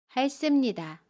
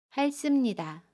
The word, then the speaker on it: 핥습니다: 할습니다는 할습니다 라고 발음해요. 겹받침 리을 티읕 중에 첫 번째 받침 리을을 발음합니다. 그래서 할이라고 발음하고요. 습은 씀으로 발음합니다. 할습니다.